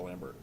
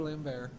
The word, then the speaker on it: Lambert: So, for example, if I was recasting it, my old grizzled cop is Christopher Lambert. I think he could. You think he? It's really? It's pronounced Lambert.